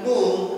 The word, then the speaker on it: mu: lagu ya kemudian mu Jadi kalau menyebutkan mu m itu seperti ada w-nya di belakang ng seperti diakhiri dengan huruf b ng me tapi itu mu ya ya itu transitrasinya